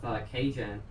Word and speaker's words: Kajan: I was hanging out with Kajan. That's how you pronounce his name.